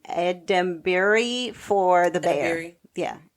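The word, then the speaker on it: Edebiri: And Ava, I can never say her name, Edembury for The Bear.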